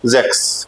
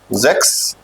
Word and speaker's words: sechs: देखो 6 की स्पेलिंग देखिए आप। 6 हो गया आपका जेक्स, राइट।